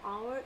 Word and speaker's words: hour: So need to understand that we do not spell the H over here, and hourly.